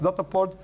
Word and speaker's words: Dataport: It's actually is not English it's not English pronounced, it's German pronounced Dataport.